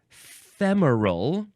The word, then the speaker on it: femoral: Okay, the first word in this episode is femoral. Femoral, or just femoral, 2 syllables instead of 3. And I feel like I've heard it also say femoral, but I guess that's just totally wrong, and I was always very dumb about that.